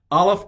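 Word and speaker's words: א: alphabet which is aleph aleph is not the letter a it's the letter that's right it's a glottal stop it really doesn't make a sound it stops the sound so the generic word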